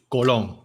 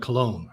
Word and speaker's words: Colón: You have, in Spanish, it's Colón with a tilde. You're Colón. Colón. And then Zonians are like Cologne, like Cologne.